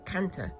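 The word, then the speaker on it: kantha: Um I don't know which Indian language it is uh cuz there are many but um the th is pronounced as as a as a t.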